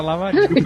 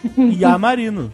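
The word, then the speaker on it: Iamarino: Eu achava que era Lamarino. Pronunciado assim na colação de grau. Peraí, não é Lamarino, não? Não, é um I maiúsculo, que é só um traço. IA Marino.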